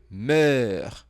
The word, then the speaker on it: meurs: Je meurs. Meurs de faim. Essa pronúncia aqui, meurs, não tem a possibilidade de eu colocar na transcrição fonética. Então, eu coloquei algo aproximado para você.